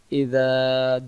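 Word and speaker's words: إذا: প্রথম আয়াতে যে পড়ি ইযা জাআ, ইযা জাআ, প্রথমটা জাল অক্ষর নরম করে ইযা, পরেরটা জিম অক্ষর জাআ। আমি যদি বলি ইজা জা নাসরুল্লাহ, তাহলে জাল অক্ষরের জায়গায় জিম অক্ষর উচ্চারণ হয়ে যাচ্ছে।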